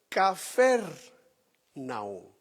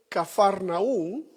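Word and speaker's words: Kfar Nahum: de su ministerio la puso en Capernaú, como nosotros lo pronunciamos en español, y en hebreo es Cfer Naú. Déjenme mostrárselo también aquí en la pantalla. Vamos a ver algunas cosas ahí, pero en hebreo es cafarnaún, que significa aldea o pueblo tenú.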